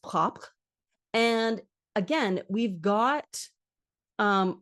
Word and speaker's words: propre: was once spelled, PROPRE, from French. And so that would be pronounced propre.